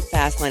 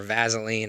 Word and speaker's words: Fasline: I'm your host, and I'm here with the one and only Vinny Fasline. I'm sure I'm saying it incorrectly, but you're going to pronounce it.